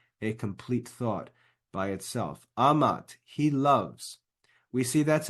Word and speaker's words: amat: form Amat Amat and remember when we have a two- syllable word the first syllable is always accented so it's Amat and we see that